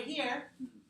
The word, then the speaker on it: her: So I told you here, this one, don't pronounce H.